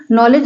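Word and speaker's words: knowledge: आया है ठीक है जैसे नॉलेज के एन ओ डब्लू एल ए डी जी ई नॉलेज मतलब होता है जानकारी जानकारी में देखिए नॉलेज में देखिए के के पहले एन आया एन के पहले के आया यहां पर के साइलेंट है तो मोस्टली जहां जहां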